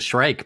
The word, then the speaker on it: Shrike: to call it a shriek or a shrike it's a shrike because that's that's the way that's the way it's spelled okay I was calling